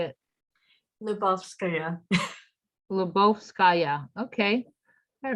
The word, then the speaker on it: Lyubovskaya: last name how do you say it yeah lebovskaya okay all right she's going to be teaching